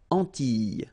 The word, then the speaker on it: Antilles: So here it's quite interesting because, well, you've got this E and then double L, E, S, okay, so final S and E, really you don't pronounce them, so you get this I sound.